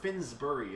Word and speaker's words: Finsbury Park: so you can see Finsbury Park or finberry park is or Finsbury is exactly how you say it finnsbury Park is